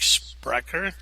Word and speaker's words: Spreaker: to this sprecher com I think that's pronounced sprecher SPR e EI k sounds like sprecher bun I get no